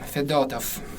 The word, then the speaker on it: Fedotov: So, it's rather hard to remember the accents. Yep. Right now, the accent on the second Letter Fedorov.